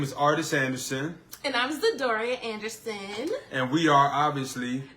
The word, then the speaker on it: Zedoria: Well, I already said my name, but I'm Zedoria. That's how you say my name, okay? So a lot of people jack it up because they don't pronounce the I, but it's Zedoria, okay?